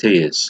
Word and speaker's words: Telles: Porto left back Alex Tejes. I think it's Tejes, it's pronounced. Tejes. I think it's Teles or Tejes, but let's call it Tejes.